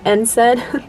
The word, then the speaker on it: NSAID: that would be um i think it's pronounced nsaid i don't think it's spelled out by the letter but uh ibuprofen and